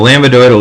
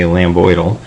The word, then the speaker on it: lambdoidal: eyes at me so lambdoidal isn't actually how you say it you say lambdoidal but i say lambda boydle so thank you remember